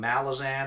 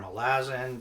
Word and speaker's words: Malazan: Um, Malazan or Malazen depending how different people pronounce it different ways.